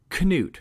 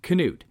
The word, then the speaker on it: Knute: to broach this topic his name was in fact knut rockne with a hard k knude and that is actually